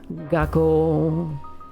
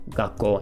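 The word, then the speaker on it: 学校: But that is gakkou, and that is little tsu. So whenever you see little tsu, it means wait a second before you move on to the next sound, okay?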